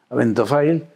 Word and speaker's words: Abentofail: El acento en realidad le he puesto mal, tiene que estar en la Abentofail.